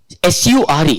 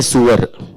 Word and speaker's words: sure: For example, people from Bihar, they cannot pronounce generally the word sh. You say S-U-R-E, sure, they'll say sewer.